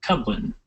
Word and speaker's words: Kublin: launching and uh oh my last name's cuin k u b l i n it's pronounced cuin thank you Scott um